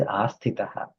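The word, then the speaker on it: आस्थितः: Sorry, I might have pronounced asthitaha before. It is asthitaha.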